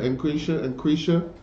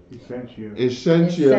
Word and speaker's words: Essentia: Increasia.